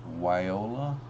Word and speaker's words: viola: Terry's tropical tank says viola isn't pronounced with a V but a W way Ola um dank tank says